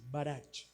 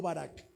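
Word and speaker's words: ברך: es una palabra que se escribe marach con c marazzi no barak barak y esta palabra dijo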